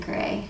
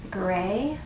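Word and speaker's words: Grès: a tat de grace from gra gray i think it's you pronounce it gray this is a beautiful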